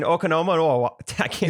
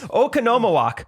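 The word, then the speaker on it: Oconomowoc: originally they were in okonomiyaki yeah okanoma walk oh there it is yeah that's all the syllables actually they originally came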